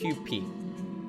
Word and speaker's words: Kewpie: If it was a Japanese pronunciation, it'd be Kewpie.